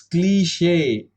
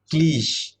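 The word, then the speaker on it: cliché: It's cliche, not cliche. Don't say it that.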